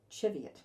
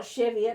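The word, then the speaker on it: Cheviot: chivot in North Canterbury so y most people pronounce it wrong are the old school people in chivet call it chivet chivet chiv not chiv not chevet not chevet but chivet anyway we'll get that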